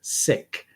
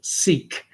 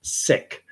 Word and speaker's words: Sikh: individuals of that faith, that's the way they pronounce it, Sikh. Most Canadians, I find, tend to pronounce it Sikh. So I'll say Sikh. I'll go with the majority. But I know that it is pronounced properly Sikh.